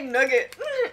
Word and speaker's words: nougat: In French is nougat. American say nougat. We say nugget.